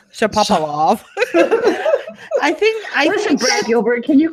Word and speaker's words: Shapovalov: Shapovalov? Shapovalov.